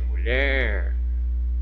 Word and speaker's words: mulher: mu, que é átona, e eu tenho ler, que é tônica, ou seja, eu pronuncio com mais intensidade, mulher, certo? Olha só aqui, mu, né? Sílaba átona. Por que sílaba átona? Porque é pronunciada de modo mais fraco, certo? E o ler, ó, o ler, sílaba tônica. Por que tônica? Porque é pronunciada de modo mais forte, certo?